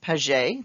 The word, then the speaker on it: Piaget: his name but it's it is a french name so that's why it's pronounced kind of not as it's spelt but with pages we